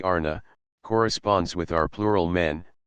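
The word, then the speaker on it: Ana: upon individual inclination X the word Anna pronounced broadly Arna corresponds with our plural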